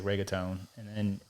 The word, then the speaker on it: reggaeton: Yeah, but anybody else that says they're just like reggaeton, and then it's funny because you're supposed to roll your R.